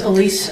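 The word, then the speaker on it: Alise: Miss, would you state your uh name and spell it for the court order, please? First name is Elise A L I S E.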